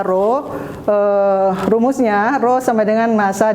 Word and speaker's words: rho: Besaran turunan lainnya yaitu gaya, yaitu massa dikali percepatan gravitasi, dan yang kelima di sini massa jenis dengan dibacanya itu yang seperti huruf P itu dibacanya adalah rho.